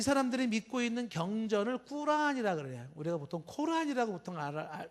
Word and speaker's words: 꾸란: 그다음에 이제 이 사람들이 믿고 있는 경전을 꾸란이라 그래요. 우리가 보통 코란이라고 보통 이렇게 알려져 있는데, 정확한 발음은 이제 꾸란이 더 원문에 가까운 거죠.